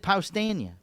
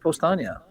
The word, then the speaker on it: Powstanie: He said Paustania. No, that's what he normally says. But he said Postania.